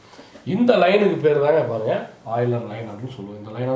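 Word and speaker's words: Euler: இது வந்து யூலர் line அப்படிங்கிற மாதிரி இருக்கும். பட் ப்ரொனவுன்ஸ் பண்ணும்போது ஆயிலர் லைன் அப்படின்னு தான் நம்ம படிக்கிறோம். சரிங்களா?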